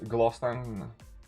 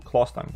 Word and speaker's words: Closstang: I think it's Glosstank and Glosstank. I think it is Glosstank though. Ooh, Clostang. Yes, my bad. Whoopsie. Let's edit that quickly. My bad. It's how I pronounce it.